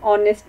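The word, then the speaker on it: honest: से हो रहा है, एच इज अ कॉन्सोनेंट लेकिन एच साइलेंट है तो ये वॉवल की साउंड निकाल रहा है, तो हम इससे पहले एन यूज़ करेंगे।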